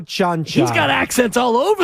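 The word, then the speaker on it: Čančar: But last night, it was Conchar, and I'm like, wait. The guy's name can't be Cancer. Yeah. It's almost spelled like Cancer. Is it Concar? If it was Bahamian. Oh, it's Chanchar? Vlatko Chanchar.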